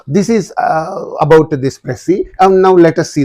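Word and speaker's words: précis: question and you know very well about this prey prees you should not say but prey that's yes is silent here you have to say prey that's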